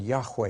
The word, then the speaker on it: Yahweh: letters of God's name that's pronounced Jehovah in English and Yahweh in Hebrew now to help you